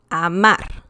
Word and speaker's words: amar: So the intonation is strong. There's a punch when saying the last syllable. Pared, amar, sutil, azul.